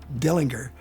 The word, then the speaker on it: Dillinger: Probably the most notorious wielder of an Ortgies pistol was John Dillinger, although his name was really actually pronounced Dillinger.